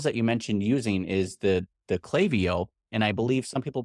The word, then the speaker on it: Klaviyo: So they are I don't know if it's called Clay. I've never heard Clay before. I've heard Klaviyo and other things, but it's definitely pronounced Klaviyo. Their VP of customer success corrected me on that.